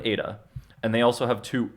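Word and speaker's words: ήτα: so completely different a this is not make an H sound I know that both of these look like an H it makes an e so they have two e they have two e that sound exactly the same Epsilon and Ada and they also have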